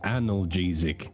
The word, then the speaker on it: analgesic: It's pronounced analgesic.